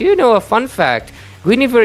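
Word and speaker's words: Guinevere: Guineaver is French. So in French there's a lot of silent letters and because of that you actually do not pronounce the N and the I's her name is actually Gav.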